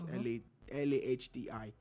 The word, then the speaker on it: Lahti: He works in the works and transportation department and all of that in Lahti. I don't know if that's a proper pronunciation for that part of Finland. It's Lahti.